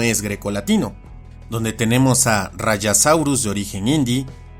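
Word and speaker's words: Rajasaurus: Y aquí unos ejemplos más donde la J se pronuncia como una Y, incluyendo nombres donde el origen etimológico no es grecolatino, donde tenemos a Rayasaurus de origen hindi, Tapeyara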